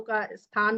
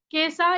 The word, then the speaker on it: केसा: केसा यानी केश, यहाँ पे सीधा जो अवधि में श शब्द का उच्चारण नहीं है इसलिए वही केश ही है, ये सा बन जाता है।